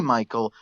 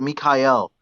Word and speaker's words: Mikayel: what is it well you can call me Michael but uh in my country it's called Mikhail but uh okay okay